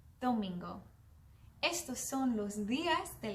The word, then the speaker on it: domingo: Sunday in Spanish is domingo. Can you say that? Domingo. Muy bien. Domingo is spelled D-O-M-I-N-G-O. Domingo.